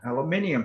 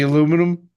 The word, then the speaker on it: aluminium: They freaking have a different way of pronouncing that. Of what? Aluminium. The aluminum. Right. But aluminium is so much fucking easier to say it. And it's really pronounced the right way too. If you look at how it's spelled, you know? Right. It is pronounced the way it's spelled.